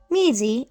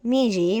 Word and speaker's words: Mizi: Our main sets are Mizi or Miji if you want to use the Korean pronunciation.